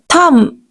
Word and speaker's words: thumb: Thumb. Okay, here B will be silent. You are not supposed to pronounce B. Thumb. No, incorrect. Correct pronunciation will be thumb. We have to stop ourselves at M.